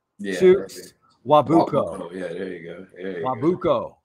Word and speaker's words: Nwabuko: Yeah, the N is silent. Yeah, Chooks Nwabuko.